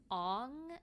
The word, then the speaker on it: Aang: But apparently he demanded that they repronounce a whole bunch of names because based on Asian languages, this is how it should be pronounced. So Aang is Ong, and then there's a